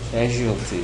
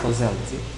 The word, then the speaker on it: causality: causality and this is one of the words uh where students fail to pronounce I have seen several cases of casualty and things like that. Casualties of course something else. This is causality.